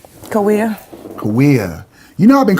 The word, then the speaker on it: Kauai: Okay, it's not Kauai. It's Kawia.